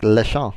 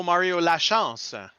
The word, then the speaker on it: Lachance: I was saying like Lechon or something like that. Mario Lachance. Lachance. Yeah, close enough.